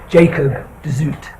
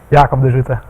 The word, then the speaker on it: Jacob de Zoete: Is going to be, the English pronunciation is Jacob de Zoete. Okay, the Dutch pronunciation is Jacob de Zoete.